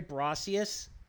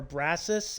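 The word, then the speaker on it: Brosius: Looking Glass Studios uh Terry Brcius or or Brassus I believe is how it's pronounced hang on I want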